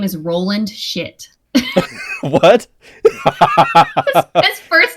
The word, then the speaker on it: Schitt: And the mayor, his name is Roland Shit. What? His first name is Roland. His last name is Shit, and they spell it Schitt.